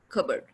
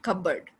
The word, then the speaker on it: cupboard: of the word the n sound is not pronounced damn cooked it's cool cupboard and burp cupboard not cupboard cupboard receipt raspberry right so there are some